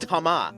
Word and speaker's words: Thomas: Why is Thomas pronounced Tama? You're not pronouncing the H and you're not pronouncing the S.